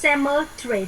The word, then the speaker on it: cemetery: Cemetery thôi. Cemetery thì bỏ qua âm E. Tất hiểu không? Chỉ có 3 âm tiết thôi.